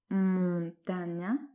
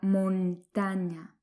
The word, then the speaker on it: montaña: On ne dit pas la montaña, mais la montaña.